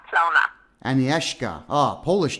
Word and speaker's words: Agnieszka: It's Agnieszka Plona speaking. Oh, how do I say your name? It's Agnieszka Plona. Agnieszka.